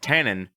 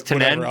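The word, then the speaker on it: Tanen: dog going psychotic yes um studio executive ned tannen did i pronounce that right it's tinen yeah this one's not yes yes it's snide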